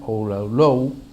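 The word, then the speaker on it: Oualalou: Es un estudio de Lamia Oulou, así se pronuncia el apellido de esta investigadora francesa, sobre el papel del evangelismo en Brasil.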